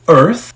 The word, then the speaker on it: Earth: E a terceira palavra de hoje é Earth. É o nosso planeta, o lugar onde a gente vive. E atenção pra pronúncia dessa palavra. O th tem que colocar a língua entre os dentes para suar direito.